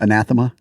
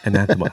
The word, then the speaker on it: Anathema: of this damn band anathema it was not anatha I can say it